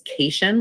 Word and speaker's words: cation: ion and an ion these are compound words so we pronounce them as separate syllables um metals usually lose